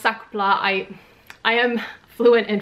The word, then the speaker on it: sac plat: of the SAA by the way it is pronounced sakla I I am fluent in French in case